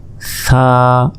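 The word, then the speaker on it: ث: জিহবা বের করে এক আলিফ টান, সা সা, জিহবা আগেই বের করতে হবে, এরপর উচ্চারণ করতে হবে।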